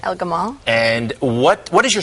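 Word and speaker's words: El-Gamal: first to you you profile the developer uh El gadab how do you say his last name El Gamal and what what is your sense of this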